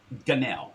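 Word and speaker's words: Gonell: i cannot pronounce his name so i'm gonna spell it out for you his last name g-g-o-n ganel ganel g-o-n-e-l-l told house investigators he could feel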